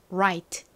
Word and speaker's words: right: 아래 뒤에 모음이 나왔기 때문에 그냥 라가 아니라 right 이렇게 발음이 나죠 right right 의미가 뭐였죠 여러분 여러가지